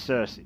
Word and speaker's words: Circe: reminds me of said it's pronounced Circe trust me I've looked this up I pull out the